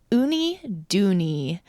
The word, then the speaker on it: Uniduni: Well, as the captain, our game for this week is Oonie Doney. The quick spell it U N I D U N I love it.